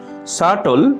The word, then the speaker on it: subtle: Subtle. শাটল, সূক্ষ্ম, ধূর্ত। শাটল, সূক্ষ্ম, ধূর্ত। এখানে মার্ক করা বি লেটারটি হচ্ছে একটি সাইলেন্ট লেটার।